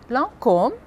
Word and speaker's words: Lancôme: Então, as palavras são, e a pronúncia correta é Carrefour, Paco Rabanne, Jean-Paul Gaultier, Lacoste, Lancôme, Chanel Eau Tendre, Citroën, Peugeot, Renault.